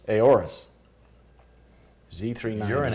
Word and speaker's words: Aorus: Aorsis? How do you pronounce it? What? How do you pronounce it? Aorus? Aorus. Z390. You're an Aorus.